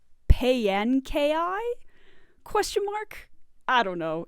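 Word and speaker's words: Paanchi: This one I often pronounce Ponchi, just because it kind of makes sense, but according to the pronunciation guide, it's supposed to be pronounced Payankai?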